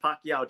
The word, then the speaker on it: Pacyau: And yes, it's pronounced Pacquiao just like the boxer Manny Pacquiao.